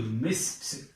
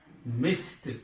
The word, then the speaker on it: missed: But this ed is pronounced as t. Missed. Missed.